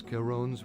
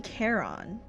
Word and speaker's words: Charon: Because, like, I've never seen that word pronounced Caron. It's always for me been Charon.